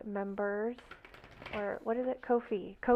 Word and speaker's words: Ko-fi: Ko-Fi is how you pronounce it.